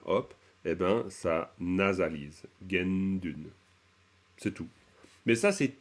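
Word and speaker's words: དགེ་འདུན: allez tiens c'est bizarre on dit gendune mais en fait je vois que c'est taun donc pourquoi de gu à Dun on arrive à gen dun on se dit mais ils l'ont inventé le ou le NA il y est pas quand on dit gen on entend bien le son na donc genune et ben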